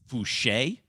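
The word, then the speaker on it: Foucher: i thought it was voucher i just read f-o-u-c-h-e-r i just didn't know it was a french pronunciation don't worry max a lot of people have been calling him voucher for a long time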